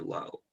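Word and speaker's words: לאו: I've never been clear on whether or not we're supposed to pronounce this lav or low. I hear people do it both ways. We use it today only in the expression lav davka. Lav davka, not necessarily. Okay. But it's lav.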